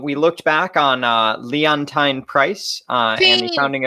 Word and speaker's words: Leontyne: both happened in february leontyne leontyne i'm so sorry i'm gonna have to say it like 10 times in the mirror after this rhymes with hydroxychloroquine oh god we uh we